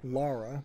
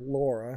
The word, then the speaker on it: Lara: I guess in this game she pronounced her name Lara, but I feel like in the previous section, in the So, previous games, it was more Laura.